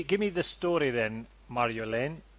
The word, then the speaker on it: Marjolein: me the story then Mario Lane am I pronouncing that all right Mario Lane yeah I would say put less effort in because home like Marin